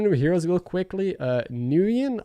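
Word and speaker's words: Nguyen: heroes real quickly uh nuyen i think that's how i should pronounce it nuyen so it's a very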